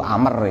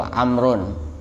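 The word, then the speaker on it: عمرو: Kalau Amr ain mim ro wawu, itu Amr. Itu bacanya itu Amrun, Amr. Kalau orang tidak pernah belajar ya dibaca Umar semua.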